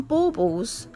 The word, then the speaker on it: baubles: I call them, in England, where I live, like the UK, not just in England, we call them baubles, like baubles, B-A-U, but it's spelt B-A-U-B-L-E-S, baubles.